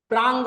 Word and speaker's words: प्रांग: clear है चलिए इसको पूरा कर लेते हैं तो यह थोड़ा सा ध्यान रखना है प्रांग उच्चारण भी देखना प्रा नहीं बोल र प्रांग बोल रहा अनुनासिक शब्द का वर्णन